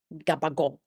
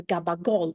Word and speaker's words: gabagool: Gabagool comes from the Neapolitan dialect, the the Neapolitan word capocollo or capocol. Now, I'm Sicilian, not Neapolitan. I'm trying to do my best with the Neapolitan dialect. But it sounds something like capocol.